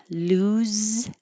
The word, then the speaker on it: lose: Lose sounds like a Z.